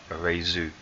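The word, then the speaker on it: Raidō: Okay, often pronounced Rado, but it's actually pronounced traditionally Reizu.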